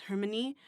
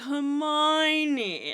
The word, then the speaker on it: Hermione: and in my mind, I kept pronouncing her name as Hermione, and then like the movie comes out and they're like Hermione, and I'm like, the fuck is that? Wait, that's how you say that?